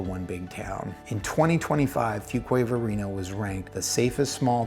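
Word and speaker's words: Fuquay-Varina: Fuquay, Fuque, all kinds of different things we get, but it's Fuquay Varina.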